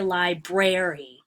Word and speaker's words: library: if you will so when you say library the stress is actually on the first syllable it's not on the second one we don't say library the second syllable is